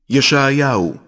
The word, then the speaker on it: ישעיהו: ישעיהו, שליח אלוהים.